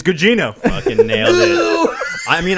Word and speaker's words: Gugino: Oh, I don't know how to pronounce it. Is it Giacchino? Carla? Think of some shit that we say on this show a lot. We're talking. Remember what he said about disremembering? Yeah. Carla Gugino.